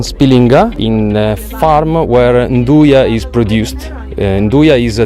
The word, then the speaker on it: Nduja: As we found out, it's not pronounced Nduja as we believed, but it's actually pronounced Nduja.